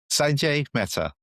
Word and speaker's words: Sanjai Mehta: I want to make sure I pronounce this right, Sanji. Sanjay Meta.